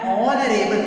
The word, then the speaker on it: honorable: And honorable. Here also H is silent. We have to start with the O.